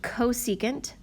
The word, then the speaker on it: cosecant: This one is pronounced cosecant, this one is pronounced secant, and this one is pronounced cotangent.